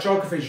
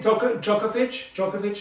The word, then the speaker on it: Djokovic: We got Roger Federer, Novak Djokovic, Rafael Nadal, all these players are top three tennis players in the world, okay?